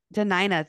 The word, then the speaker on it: Dena'ina: She was born in Portland, Oregon, but is proud to call, I'm going to say this totally wrong, Dena'ina. Is that how you say it? Dena'ina, thank you.